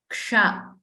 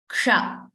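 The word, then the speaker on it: क्ष: And this letter here, Ksha, it has K plus Sha, Murdhanya Sha. The Sha where you roll your tongue behind. The Sha where you pronounce it like Tavarga letters. Ksha.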